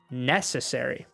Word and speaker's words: necessary: Really, it's kind of on two syllables in English, but necessary, the accent really is on the accentuation of the word really is on these two syllables, necessary.